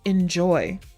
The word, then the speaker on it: inZOI: Anyway, I think it's actually supposed to be pronounced like enjoy.